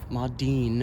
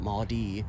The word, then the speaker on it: Maudine: And Maudine Nickerson, Maudine, I want to make sure to pronounce that N, it wasn't Maudie.